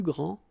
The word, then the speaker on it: grands: All right, so you don't pronounce this final S. Okay, so one more time. Il est le plus grand, elle est la plus grande, ils sont les plus grands, elles sont les plus grandes.